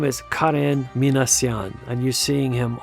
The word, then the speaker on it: Karen: And by the way, that's the way you pronounce it. It's not Karen, but Karen.